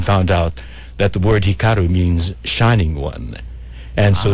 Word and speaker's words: Hikaru: congratulations Samuel and I'll let you do the pronunciation of suu's first name Hikaru Hikaru h i k a r u okay and